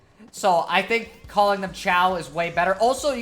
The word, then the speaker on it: Chao: pet things you raise the Chow are pronounced ciao you think it would